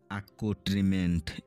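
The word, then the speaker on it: accoutrement: আই ও ইউ এস সরেপটিস সরেপটিসস মানে গোপনীয় আকট্রিমেন্ট এ সি ও ইউ টি আর ই এমই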